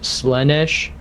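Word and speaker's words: Slaanesh: you for is it is it pronounced slanesh it's a slesh SL two a okay sles ish Ash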